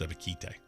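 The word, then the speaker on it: Ebiketie: This guy says his own name wrong, and it really angers me. His name is Arnold Ibuki, the edge rusher out of Penn State. It's Ibuki. That's how it's spelled. If you want me to say KT, there should be a fucking A in it.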